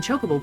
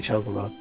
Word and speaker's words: chocobo: That's not how you say chocobo. Chocobo. You say chocobo. Chocobo. There's no E at the end, so Chocobo. it has to be ah instead of O.